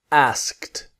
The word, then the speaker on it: asked: But the e d has a different sound. It has a t sound. So, go slowly. First say ask. Just ask. Now, asked. asked. Really slowly, right?